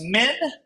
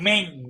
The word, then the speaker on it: Minh: And it's pronounced Min and not Ming. There's no G.